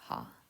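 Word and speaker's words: は: is ha um flashing you might hear it as W when it is used as a particle it is only W when it's used as a particle and with an exception of K and K all other times it is her um if you don't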